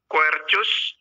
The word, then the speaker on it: Quercus: Dia punya nama Latin yaitu Quercus infectoria ya. Jadi bukan dibaca kus ya, tapi dibacanya tetap C, cus ya, karena dia bahasa Latin ya.